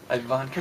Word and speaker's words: Ivanka: Ivanka, hello. Did I say it right? Yes, you did, like as in Trump.